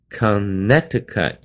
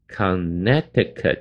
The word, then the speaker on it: Connecticut: 下面第七个地方是 Connecticut，这个地方要跟各位